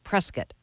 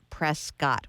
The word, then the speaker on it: Prescott: Prescott Arizona Sam Marc instructed me to pronounce the town you are from as Prescott not Prescott which is what I usually do how do you feel